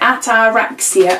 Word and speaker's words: ataraxia: and this one says ataraxia and it tells you how to pronounce it at our racks yet I've never heard of